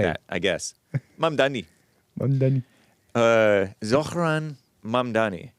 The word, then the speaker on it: Zohran: We got Zohran. We got You're mispronouncing it, man. Zohran. Before we get back to the calls, it's Zohran.